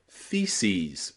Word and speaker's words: theses: Same with crisis becomes crises, and thesis becomes theses, okay? That es on the end of words here is always pronounced ease, ease, because they're taken from Greek, okay?